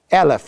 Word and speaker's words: Eleph: tribes families or thousands Elif like elephant it's spelled the same way Elif is the common